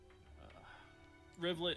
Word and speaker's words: Rivulet: Rivulet is spelled R-I-V Riv L-E-T. Rivulet. Niblet. It's a phonetic one, not like Remy's other 3,000 names.